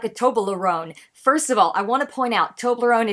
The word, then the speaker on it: Toblerone: float like a Toblerone that word is actually to my knowledge just pronounced Toblerone three syllables but he stretched out